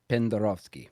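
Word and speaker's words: Pendarovski: I'll probably pronounce this wrong. It is Stevo though. Okay. Stevo Pendarovsky.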